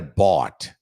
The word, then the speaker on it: bought: to buy comprar é bot para pronunciar o passado verb to buy é só tirar o a da bota uma vez um aluno falou ass eu não sei falar eu comprei I bought I bought B aí